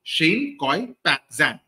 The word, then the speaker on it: Shane Koyczan: CO as in ki Zan which rhymes with pan so Shane Ki Zan Okay C is silent